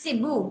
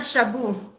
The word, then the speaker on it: Cebu: It's pronounced Cebu. Cebu. Cebu. And it's not Shabu.